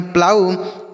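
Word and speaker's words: plough: तो पी एल से बच्चों आधा प और ल पढ़ेंगे। ओ यू का उच्चारण आउ होगा और जी एच यहां पे साइलेंट होगा। इसको नहीं पढ़ेंगे। तो इसे हम पढ़ेंगे प्लाऊ।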